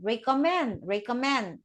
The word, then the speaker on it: recommend: Recommend, right? Recommend. Stress on the first syllable.